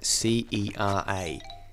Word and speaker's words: Cera: It's spelled C-E-R-A. Cera, as in Michael Cera.